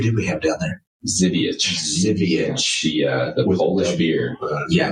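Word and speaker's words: Żywiec: badge proudly okay that's cool yeah yeah that zivich was that was good I mean it spelled like Zak yeah yeah the spelling was z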